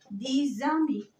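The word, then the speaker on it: dix amis: طب لو جاء بعديها لتر فويل حرف متحرك بتنطق ز ز. زي ايه؟ لما اقول هنا دي زامي، تبقى الاكس هنا ز. دي زامي عشرة اصدقاء.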